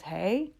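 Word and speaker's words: hej: did find out that the Swedish hello is hey, and that's spelled H-E-J.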